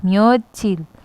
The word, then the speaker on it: 며칠: एंड उसके बाद म्यो, फिर हमने जो म्योत की जगह नीचे च आता है यानी हम उसे त प्रोनाउंस करते हैं तो उसे इल के साथ जोड़ दिया गया है। देखिए म्योचिल, इल यानी डे, म्योचिल